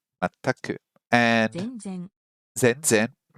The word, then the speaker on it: 全然: 全く、 Mataku, mataku, and 全然、 zenzen. Hey, those words have the same first character, but it's pronounced completely differently.